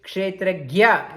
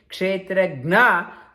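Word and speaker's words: क्षेत्रज्ञ: We should pronounce properly Kshetragya. In the Hindi, they don't say Jna, they Kshetragya, they say Kshetragna.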